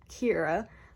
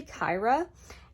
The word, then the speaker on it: Kira: it's an i mean it's kira but a lot of people say kyra and i correct them because i know that i don't want to be called the whole year and also but sometimes